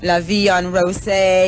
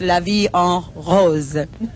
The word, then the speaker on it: La Vie en Rose: you know so for those who might say la vie on rose or um anything like that it's la vie en rose i'll take your word for it you you've